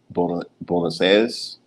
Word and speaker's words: Buenos Aires: about Salta, Argentina, rather than going to Bo, Buenos Aires. That's how it's pronounced, the Argentinian capital, and go to Salta.